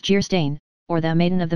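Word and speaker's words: Geierstein: offering it for sale Anne of gerstein pronounced Jer stain or the maiden of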